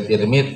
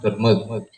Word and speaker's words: Tirmidzi: Turmud, bisa Tirmidzi, bisa Turmud. Ada juga yang mengatakan Tarmidzi. Jadi ada juga yang mengatakan bisa dibaca Tarmidzi. Tapi ya kita ulun pribadi lebih senang bacanya Tirmidzi atau Turmud, Turmudi atau Tirmidzi.